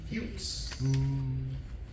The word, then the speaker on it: Fuchs: The fuchs. Not the. Not. Don't pronounce it like the curse word.